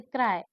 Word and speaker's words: cry: हैं फिर से देखिए बाय अक्षर का साउंड बनाता है जब यह एक छोटे शब्द के अंत में आता है जिसमें कोई वोल नहीं होता जैसे क्राय क्राय मतलब आई का उच्चारण हो रहा है हो रहा है ना